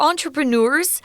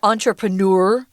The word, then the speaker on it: entrepreneur: They're entrepreneurs. You can pronounce this word 2 ways, entrepreneur or entrepreneur. It's up to you. They're very close, aren't they?